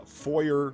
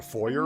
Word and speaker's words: foyer: Is it a foyer or foyer? It's foyer. I've never heard foyer. What the is a foyer? It's that's it's a French word. You're not supposed to pronounce the e r.